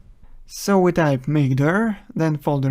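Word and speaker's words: mkdir: Linux we use mkd command which is usually pronounced as makeer so we type makeer then folder name enter and here's a new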